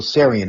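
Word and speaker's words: Tsarion: His name is Michael Sarian, and the T is silent.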